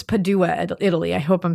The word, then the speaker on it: Padua: It is Padua.